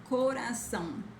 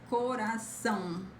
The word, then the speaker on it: coração: This is not so accurate. This transcription sound. Okay, pretty similar, coração, but it's not sound, it's são. Remember to hum and put the hum, coração, okay?